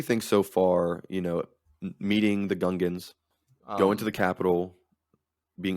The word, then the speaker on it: Gungans: So, I what do you think hear about the Gungans? some people, I've heard it pronounced Gungans, but then they themselves say Gungans. Gungans. So which one is it?